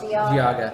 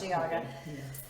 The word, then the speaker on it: Geauga: I forget the pronunciation of that county that I talked about last time. It was like Cuyahoga. Cuyahoga. Geauga. Or Geauga. Geauga, Yeah, yes. Geauga. I knew it was one of those.